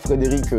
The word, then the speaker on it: Frédéric: se prononce, Delavier D-E-L-A-V-I-E-R, Frédéric comme le prénom Frédéric au masculin.